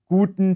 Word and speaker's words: guten: the morning and afternoon listen especially to the vowel in the first word guten tag you'll notice that the u sound in guten is deeper and has a pure tone than english's you the german